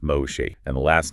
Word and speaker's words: Moshe: of the Iron Curtain, the first name is pronounced Moshe, and the last name is Idel. Moshe Idel.